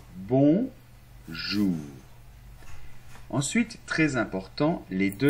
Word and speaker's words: bonjour: très bien bravo alors ensuite la lettre J on verra les lettres dans la leçon 2 se prononce un peu comme quand tu dis jazz le jazz mais il y a pas le D devant Jaja hein cette partie seulement donc bon jour ensuite très important les